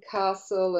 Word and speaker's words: castle: the word listen, and there's that lovely silent T in there, as in there's listen and castle and whistle.